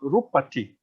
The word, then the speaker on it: Rūpati: So Rūpati, okay? Rūpati, notice there's the double P here, but then the sound value is the same. So the first syllable, instead of Rūp, which is also 2 counts, is Rūpa, okay?